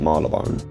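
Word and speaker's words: Marylebone: The easiest thing to me is just imagine it's a silent Y. Like the Y just ain't there. Then it just makes sense.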